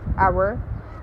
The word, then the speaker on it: hour: Okay, we have silent H in the beginning of a word, like honor, hour, and we have it after W in WH words like when, where, what, why, while.